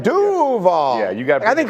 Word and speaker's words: Duval: Is the emphasis on the wrong syllable there? Like, isn't it supposed to be Duval? Like Duval? Right? Like Duval.